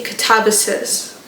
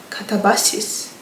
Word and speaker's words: katabasis: And I know that people from like who speak English say kabises. But in my head I was like I speak Romanian and Russian. So I was like, let me just pronounce it how I would say it in Romanian.